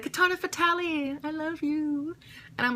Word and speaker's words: Fatale: I can tell you one thing it's not fatali my name is not Katana fatali it's Katana fatal you can say fatal or